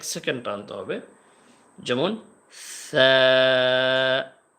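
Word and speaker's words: ث: এ সার উচ্চারণটা হবে জিহ্বার আগা এবং সামনের উপরের 2 দাঁতের আগা, এই জায়গা থেকে সা, সা, সা, নরম করে হালকা করে সা, সা।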